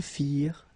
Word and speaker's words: firent: Remember, ending ENT for the plural, you don't pronounce it.